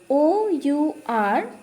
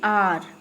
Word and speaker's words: our: It will be R. OUR, R. HOUR is also R. OUR is also R and HOUR is also R. Both the spellings have the same pronunciation, R and R.